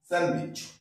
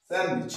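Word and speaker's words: sandwich: ভুল করি স্যান্ডউইচ তাহলে ডি উচ্চারণটা আমরা করবো না ঠিক আছে তাহলে আমরা করবো এখানে কি স্যান্ডউইচ স্যান্ডউইচ ডি উচ্চারণটা দেবো না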